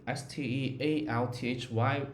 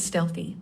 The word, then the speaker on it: stealthy: that word is stealthy pronounced stealthy the first part sounds like stealth and then a quick e at the end what's meaning of